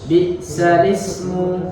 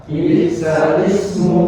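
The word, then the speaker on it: بئس الاسم: Baik, kita baca bi'salismu, bi'salismu, bi'salismu, seperti itu. Jadi pengucapannya bukan bi'sal ismu tapi bi'salismu. Jadi harokat di huruf hamzahnya, harokat di huruf hamzahnya dipindahkan ke huruf lam, huruf lam di alnya, seperti itu.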